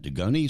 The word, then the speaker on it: Dugoni: Dugoni School. How do you pronounce that? Dugoni School of Dentistry? Dugoni School of Dentistry, correct, in San Francisco.